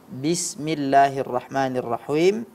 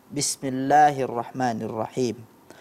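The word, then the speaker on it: بسم الله الرحمن الرحيم: sedikit ya pada kasroh pelafalan kasroh pada Basmalah ya Bismillahirrahmanirrahim itu terdengar kurang jelas seperti suara e Bismillahirrohmanirrohim Kemudian pada kata Yuki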